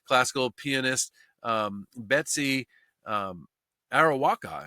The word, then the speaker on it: Arakawa: pianist um Betsy um araka I guess is how you pronounce that um arakawa sorry I believe that's actually how you pronounce it she was 63 by